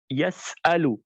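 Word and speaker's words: يسأل: So hamza is the farthest point in the throat. Deep from the throat, it comes out straight. A, e, u. Yas'alu.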